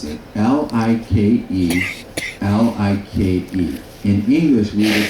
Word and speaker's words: Like: So the I is pronounced as an E.